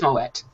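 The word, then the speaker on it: Moët: because I was like Am I Wrong is it Moe or is it moette it is moette and yeah because I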